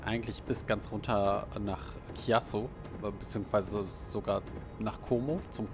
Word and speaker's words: Chiasso: Insofern, es wird ja auch Chiasso ausgesprochen und nicht Chiasso oder so. Das ist ja dann tendenziell die italienische Aussprache.